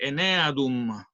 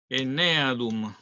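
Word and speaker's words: Aeneadum: enum genetrix compartir pantalla se lee en no escribí mal ene adum con acento se lee con acento en la enum O sea madre de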